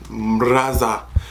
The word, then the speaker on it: MarazA: MarazA. That's how you pronounce it.